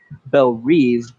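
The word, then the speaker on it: Belle Reve: a prison sentence at bel reeve she pronounces it i'll go with that bell reeve which is just like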